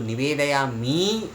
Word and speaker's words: निवेदयामि: एष रात्रिक धूप निवेदयामि, तो निवेदयामि मैं थोड़ा सा शायद ज़्यादा बोल रहा हूँ। निवेदयामि इस प्रकार से जो है लय के साथ जब बोला जाता है तो इस प्रकार से आ ही जाता है, तो उसमें बहुत सारे लोगों को शायद निवेदयामि ही सुनाई दे रहा है।